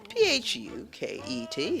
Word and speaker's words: Phuket: Phuket. Is there an alternative pronunciation? No, Phuket, Thailand.